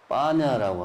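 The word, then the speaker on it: paññā: 빨리어로 반야를 빠냐라고 하든가 발음이 비슷해요.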